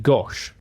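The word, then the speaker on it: gâche: And the word gash actually comes Sorry, the word gosh. The word Okay, keep doing it cuz it's the word gosh, it's spelled G A C H E with a little um circumflex accent on the A.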